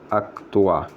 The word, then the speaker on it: क्त्वा: अब मैं कत्वा लिख रहा हूँ लेकिन बोल रहा हूँ अक्तवा, तो इसी तरह से बोला जाता है। कत्वा लिखते हैं लेकिन उसका जो उच्चारण होता है वह अक्तवा होता है, और लगा कर उच्चारण करते हैं।